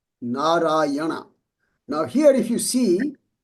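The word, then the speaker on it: नारायण: here this word called narayana. Now here if you see the first letter N is the normal letter normal N like name right so there's this final N this has a dot under it now says can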